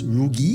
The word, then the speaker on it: rugi: Okay, so first and foremost, it's spelled with an R. Wonderful. Okay, wait. So it's okay, wait. Lost out. So the L is replaced with R? Yeah, so many of my Chinese-speaking friends, Yes. when they speak Like that. Malay, Okay. sometimes the L and the R get swapped. Yes. Right? Tombalik, terbalik. Ah. Right? So it's pronounced as rugi.